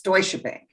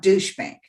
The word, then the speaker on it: Deutsche Bank: And you mispronunciate Deutsche Bank. It's Deutsche Bank, not douche bank.